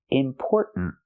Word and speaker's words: important: at the end important make that stop T sound put your tongue up important it's not just the N important important it's important the tongue goes up and makes a stop tea at the end important one important note